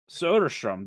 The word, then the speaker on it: Soderstrom: Soderstrom.